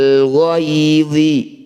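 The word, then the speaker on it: الغيظ: Minal ghaidhi, ketika dihentikan minal ghaidh, gitu ya bacanya.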